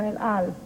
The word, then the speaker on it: El Al: Number two, the El Al, is that the way you pronounce it? Yes, El Al yes.